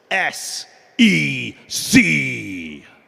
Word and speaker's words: SEC: heart of crypto investors s e c come on that's how you have to say it right um and so